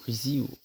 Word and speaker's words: Risi: concernant ce réalisateur Dino Rizi ça se prononce Z et le deuxè film